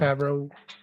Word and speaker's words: Favreau: I think I pronounced his last name right. Favreau.